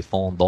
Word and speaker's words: fondant: a b candy called fondant i don't know if i'm pronouncing that correctly i think it's a french word it's probably fondon or something like that uh in the native pronunciation but anyway f-o-n-d-a-n-t and